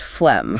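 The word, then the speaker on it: phlegm: set is flem, pronounced flem. Flem. We must note the silent G and that short e vowel sound like in him.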